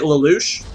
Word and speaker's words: Lalush: Lou is it that's that how I say Louch Louch okay I will say it I'll say